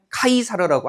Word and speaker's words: 카이사르: 시저 같은 것도 영어식 발음이죠. 이거 로마 발음으로 뭐라고 해요? 카이사르라고 하는 거죠. 그래서 원래는 카이사르지만은 영어식으로 시저라고 오랫동안 써 왔기 때문에 이렇게 쓴다는 거고요.